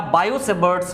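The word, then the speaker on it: Biot–Savart: है Biot saves law लेकिन हम लोग इसको प्रोनाउंस कैसे करते हैं ना बायो से बर्ट्स लॉ bio saves law fine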